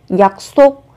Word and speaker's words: 약속: Khi phát âm các bạn chú ý gấp đôi phụ âm sờ lên. 약속.